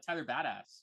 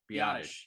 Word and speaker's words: Biadasz: I think the biggest losses were Tyron Smith and Tyler Badass. Biadasz? I don't know how to say it. Biadasz is how you say it, yeah.